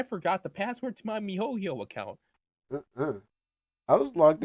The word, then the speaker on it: miHoYo: I don't even know Miho yo.